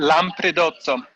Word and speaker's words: Lampredotto: So can you explain a little more about the Lampredotto? Did I pronounce that correct? Lampredotto, yes.